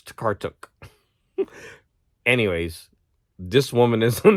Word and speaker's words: Tokarczuk: Now, I was pronouncing her name Tokarczuk, but I heard the narrator of the book at the end. She said it was Tokarczuk. This is pronounced like a T. The CZ, Tokarczuk, something like that. So sorry. I like saying Olga Tokarczuk, but it's wrong. It's Tokarczuk.